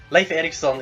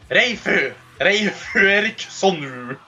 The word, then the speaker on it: Leif Erikson: Leif Erikson is actually how it's pronounced.